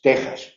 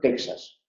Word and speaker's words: Texas: era J, por ejemplo, el estado de Texas es Texas, no se debe pronunciar en español Texas.